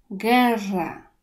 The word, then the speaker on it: guerra: takie zbitki jak go ue i i to wymawiamy jak polskie steki czyli tego to nie czytamy guerra tak samo gdy mówimy gitara gitara osp w